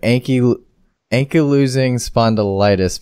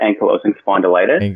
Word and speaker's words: ankylosing spondylitis: sorry we didn't get to this these were Anki ank you're losing spondylitis patients I pronounced that right yeah it's actually pronounced yeah that's okay it's actually pronounced ankylosing spondylitis you're losing a form of arthritis and it's